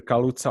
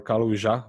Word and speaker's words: Kaluza: or kaluza or karuja it's very difficult to pronounce his name because i think he was german but born in a polish city so either kalutsa or kaluija works and the other guy